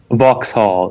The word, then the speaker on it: Vauxhall: Hashtag London Bridge, Borough, hashtag Borough, and then hashtag, you said Vox? How do you pronounce that? Vauxhall.